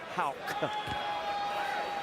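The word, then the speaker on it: Haugh: dozen and it is Hal if you're watching this I know it's spelled h a u g h but is pronounced Hal and we don't know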